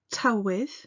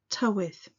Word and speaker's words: tywydd: the weather to with now this word straight away causes some people some difficulties listen again tell with sometimes you'll hear people say tell with a bit more of an sound at the beginning and that's okay too tell with sit meierta